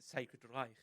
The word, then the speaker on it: Sacred Reich: point out with Calum, his pronunciation, which I'm quite happy with, how he pronounced it, Sacred Reich, which I quite like. This is something that I've always liked about the Scottish. It's you guys pronounce German words correctly. You don't just put K's and just random syllables in there. Like a K where's a K? Isn't the same thing. Yeah. Where the fuck's a K in this? There is no K.